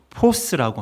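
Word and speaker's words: φῶς: 빛은 정말 많은사람들에게 졌습니다 서빛 로 포스라고 합니다 포스라고 읽는데 영어에도 스라는 단어가 있죠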